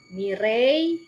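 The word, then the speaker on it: Mireille: membaca bahasa Prancisnya ya Jean itu zong ya mirei Nah itu cara membacanya seperti itu mirei Dan Jong memiliki anak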